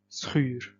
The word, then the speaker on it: schuur: In other occasions, the SCH sound being at the start of the word, for example, would cause a sh sound. Schuur.